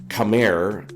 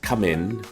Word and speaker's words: Khmer: And in Cambodian the letter R is pronounced with an N sound at the end of most words. So Camair is actually pronounced Camin by the people of both countries.